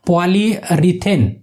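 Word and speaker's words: polyurethane: तो उसे कहते हैं पॉलीरेथिलीन, ऐसे उसका नाम है, मतलब उसका प्रोनाउंसिएशन अलग अलग है। पॉलीरीथेन ऐसे उसका प्रोनाउंसिएशन है, इंग्लिश हिंदी आप दोनों भी पढ़ लेना है।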